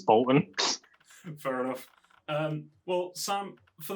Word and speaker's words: Boulton: It is Bolton, right? That's the correct pronunciation. Yeah, I think technically it's Bolton, like you go down on the U, but I've never said that myself. It's Bolton.